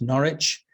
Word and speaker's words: Norwich: there on the map it's built with the w in the middle of it but you don't need to pronounce that w it's just pronounced norwich uh if you follow